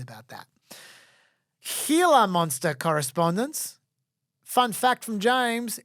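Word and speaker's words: Gila monster: are right about that healer monster correspondence fun fact from James it's pronounced healer monster not Jer monster oh great the name comes from Spanish similarly Saro Cactus is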